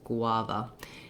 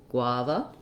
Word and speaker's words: guava: sounds like gua with first syllable stress guava if you try find that gua combination hard to do you can try it without the g like wah and then add your g gua guava um and just remember